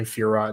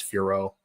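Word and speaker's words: Fiorot: Like I doubt I would have put like a Jordane Furat Zahabi together. I don't know why I call her Furat when it's Furo. The T is silent.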